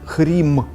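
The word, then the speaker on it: ह्रीं: is one more syllable this syllable sounds like the syllable hrim this syllable conditionally increases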